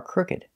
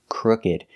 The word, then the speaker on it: crooked: because his teeth are crooked so remember the pronunciation is crooked the double o is making the uh sound like book and look short uh sound crook and the ed